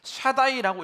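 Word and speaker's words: שַׁדַּי: 샤드라는 단어를 통해서 나왔어요이 샤드라는 단어와 ai라는 뒤에 어미가 뒤에 붙으면 수식어가 붙으면 샤다이라고 읽게 되는데이 뜻은 샤드는이 가슴을 뜻이에요이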